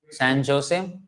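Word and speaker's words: San José: San Jose? No. Not exactly. San Jose. Jose. H sound.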